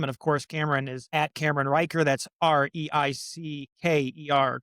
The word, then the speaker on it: Riecker: Uh it's Cameron Riker now.